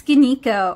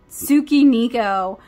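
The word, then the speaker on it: Tsukineko: How do I know it's Skinico or I'm gonna make y'all mad. I'm sorry. I've heard, okay, so people who have never read manga and don't watch anime definitely pronounce it as Tsukiniko on their craft channels,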